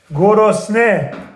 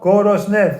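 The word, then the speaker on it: گرسنه: Gorosne, hungry, 3 syllables. Gorosne, 3 syllables, a tie.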